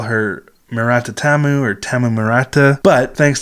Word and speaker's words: Tamu: saying it wrong because a lot of times in Japanese, U's are very short, almost silent sounds, so it's more like Murata Tam.